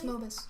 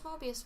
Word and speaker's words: Mobus: It's Mobus. I thought it was Mobius. It's Mobus, yeah. It's Xander Mobus. We just keep adding the I because we're used to the word Mobius.